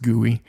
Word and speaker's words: GUI: for the gooey I it's call it GUI uh I think it's pronounced guoy um you put the